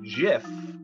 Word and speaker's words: GIF: while working for compuserve he called it a jiff with a soft g choozy developers he reportedly